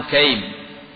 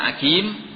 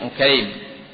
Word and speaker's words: Ukaim: Ya, bacanya Ukaim, bukan Akim, tapi Ukaim. Ya, dengan tasghir.